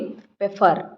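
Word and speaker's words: Pfeffer: तो सबसे पहले इसके डिस्कवरी की बात की जाए तो एक साइंटिस्ट थे, पेफर, ठीक है। इसमें एफ साइलेंट करके आप पढ़ते हैं इसको।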